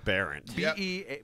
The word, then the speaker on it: Behrendt: Let's put a silent H in there, two consonants at the end, and make it not look like it sounds.